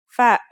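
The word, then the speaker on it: ف: The first letter we're going to learn today is fa. Fa is pronounced just like the English f.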